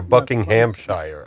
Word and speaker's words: Buckinghamshire: Or Buckinghamshire. I don't know. How do you pronounce that? But the H is usually, Buckinghamshire. Yeah, the H is usually silent.